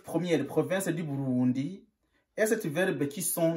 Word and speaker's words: Burundi: Pas Burundi, mais Burundi.